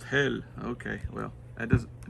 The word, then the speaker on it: Helle: heli yes I know they say no it's pronounced hell okay well that does it doesn't sound good